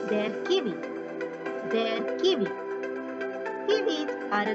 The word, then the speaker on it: Kiwi: Here comes kiwi, which is pronounced the same as in English. Their kiwi.